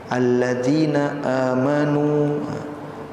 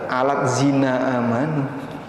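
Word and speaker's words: الذين آمنوا: Alladzina amanu aladzina amanu. Ini kayak gini bacanya. Bacanya alladzina amanu. Dibaca alat zina amanu karena transliterasi. Dan membaca transliterasi tidak sama dengan baca Quran.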